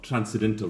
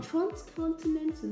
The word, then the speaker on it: transcontinental: Okay, let me talk to you about the past of transcendental railroads. Southerners want to build a railroad. Transcontinental. You got to pronounce right.